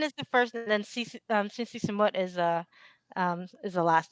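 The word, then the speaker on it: Sinn Sisamouth: Cincy Samut. Sinn Si Samouth. So Yeah, Sin is the first, and then Cincy Samut is the last name.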